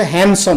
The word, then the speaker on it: handsome: खूबसूरत के मामलों में अब हैंडसम का जो लफ्ज़ बहुत हमारे हैं इस्तेमाल होता है लेकिन इसका तरफ उस गलत किया जाता है मैं इसमें डिप साइलेंट है और इसका सही तरफ से हैंडसम मैं इसी तरह से